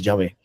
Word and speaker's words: Yahvé: Por eso tenemos Jehová o Yahvé, ¿no? Entonces, sabemos que es Yahvé, la verdadera pronunciación. Jehová no existe.